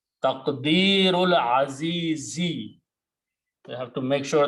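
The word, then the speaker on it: تقدير العزيز: Don't pronounce this alif in between. Taqdeerul azizi. You have to make sure that you pronounce the correct harakat, otherwise the meaning will change. Taqdeerul azizi.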